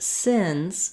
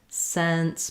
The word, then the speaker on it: since: a little bit but you should hear that sins sins is my mouth is more closed since my mouth is a little bit more open um if you have